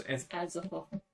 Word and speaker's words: Azathoth: Is Azathoth.